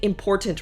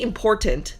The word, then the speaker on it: important: So I say important with a T in the middle. Important. But the way you're actually supposed to say it is I can't even say it right. Like the T is a stopping sound. It's important or something like that.